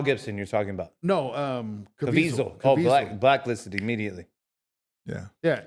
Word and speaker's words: Caviezel: Cazaviel? Yeah, Caviezel.